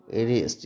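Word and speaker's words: wrist: आर आई एस टी रिस्ट या यहां पे ये क्या है डब्लू साइलेंट है अगर किसी स्पेलिंग की शुरुआत डब् एओ से होती है तो सामान्यता वहां पर डब्लू साइलेंट ही होता है यह बात भी ध्यान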